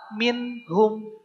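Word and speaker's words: مِنْهُمْ: nun sukun ketemu ha minhum tidak Ming tidak begitu tapi minhum jelas Nun sukunnya ya Kemudian yang kedua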